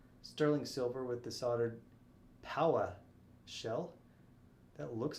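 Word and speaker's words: paua: yes that is blue power shell it's spelled p-a-u-a and it's said like i got the power is that from uh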